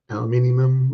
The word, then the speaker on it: aluminium: I got I had a aluminum alloy, aluminium, whatever you guys want to pronounce it, alloy kind of one.